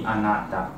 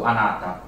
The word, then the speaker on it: Anata: And yeah, he says he prefers the pronunciation be Anata. So Anata.